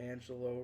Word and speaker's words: Angelou: pronounce her name, and there were people who mistakenly thought her name was Angelou, not Angelo, because the last part of it looks like Luis or Louis.